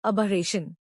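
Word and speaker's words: aberration: इसका प्रोनाउंसिएशन है अबरेशन।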